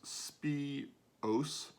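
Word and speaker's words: Spìos: right good morning spiros scots gaelic for spice and pronounced spi os is a uniquely full-bodied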